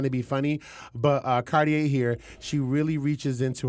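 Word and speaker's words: Kardea: uh cardia Brown Card cardier Brown sorry cardier I always say it wrong cuz cardier I'm like it's not cardier it is cardier it is cardier so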